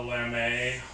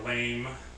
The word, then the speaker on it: lame: a razor which is called a lame or a lame uh you know depending on how people pronounce it so that's what it